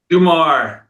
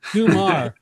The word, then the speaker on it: Dummar: It is pronounced Dummar or Dummar? Dummar. Dummar.